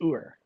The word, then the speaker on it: Ur: and so that is you actually do pronounce it Ur yeah cuz I always thought it was like you are like yeah you are